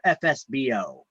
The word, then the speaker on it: FSBO: sale by owner or fsbo okay FSB stands for for sale by owner we pronounce it fsbo well you can pronounce it however you want you know but fsbo